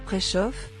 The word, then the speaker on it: Preszow: Rendez-vous est pris le 16 décembre prochain pour découvrir Prechoff, nom amusant que se réfère à la bonne prononciation de son nom de famille, qu'il a dû souvent corriger lors de ses débuts.